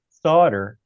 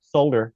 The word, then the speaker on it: solder: d this is true it has an L in it it does but the L is silent but it was originally